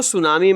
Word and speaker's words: tsunami: chapter the सुनामी बच्चों सुनामी में टी का उच्चारण नहीं होता है और बच्चों जैसे ही